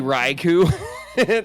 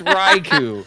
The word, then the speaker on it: Raichu: It's actually Raichu. Thanks, Iwit. It's Raichu.